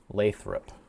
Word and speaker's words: Lathrup: Lathrup. Got it. That's how you pronounce it.